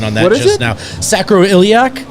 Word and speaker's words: sacroiliac: sacroiliac strain just qu just quadruple check the pronunciation on that just now sacroiliac sacroiliac strain that's like a what it's the sac